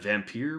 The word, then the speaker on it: Vampyr: So I would pronounce that vampire, but I don't know for sure.